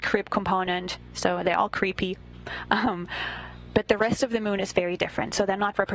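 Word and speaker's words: KREEP: they have a weird component that we call creep and it's spelled k re e e p in sense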